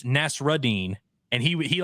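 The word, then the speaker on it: Nassourdine: a french guy uh people kept calling him Nasser deine and it's nasrine and he he like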